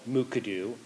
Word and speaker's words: Mukurtu: The Plateau People's Web Portal is based on software developed at Washington State University called Mukadu, and the R is silent. That trips up many people.